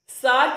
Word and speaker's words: Tsar: सार के अंदर टी is silent, therefore T एस ए आर को हम प्रोनाउंस करते हैं सार.